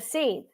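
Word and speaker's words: seiðr: the she is the seed that is spelled s e i d r the r is silent so now you've got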